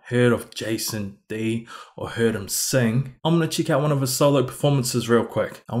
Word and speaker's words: Dy: Today we'll be checking out Love Yourself, Sorry, What Do You Mean, and Baby Mashup, Justin Bieber cover by Jason Day. Pretty sure it's pronounced D and not die, I think.